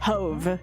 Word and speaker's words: Hove: Hoveve. It's supposed to rhyme with clove.